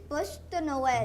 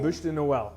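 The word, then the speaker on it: Bûche de Noël: Buche de Noel. Buche de Noel.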